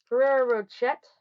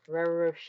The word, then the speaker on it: Ferrero Rocher: it was small enough Ferrero rochette or Ferrero Roche as you're supposed to pronounce it I already ate one